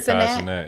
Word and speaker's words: Kai Cenat: Well, on the Kai Cenat, is that how you say his name? Yeah, Kai Cenat, yeah.